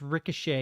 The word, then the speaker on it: ricochet: put together that I was trying to say Ricochet dude it was so embarrassing it was so incredibly embarrassing he's like it's pronounced Ricochet you dumbass I like bro I've only ever